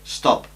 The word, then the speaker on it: stop: ejemplo doblaría la p recordemos que stop en un inglés mal pronunciado parecería que tiene dos sílabas stop pero no es stop es un solo golpe stop stop una sílaba por tanto cumple la